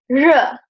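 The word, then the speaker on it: 日: So this is still today the pictogram for the sun, and we pronounce it R. It means the sun.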